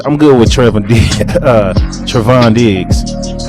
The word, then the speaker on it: Trevon Diggs: So I'm good with about to say his name wrong. I said Tay Diggs. I'm good with Trevon Diggs.